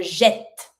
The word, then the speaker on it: jette: Je jette. Je jette. We add the double T because of the pronunciation. The fact of putting double T makes the first E A sound.